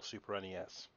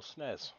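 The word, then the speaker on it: SNES: the super nintendo no super nes or snares depend on how you want to pronounce it there's just under a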